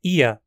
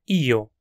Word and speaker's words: ja: Em vez de ja, tente dizer ia, como se fossem duas sílabas. Outra opção é io, também com duas sílabas, mas usando a vogal o. Você também pode dizer yo como uma sílaba, mas